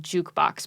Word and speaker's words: JQBX: uh i think it's technically called jukebox but it's spelled like jqbx no it's just an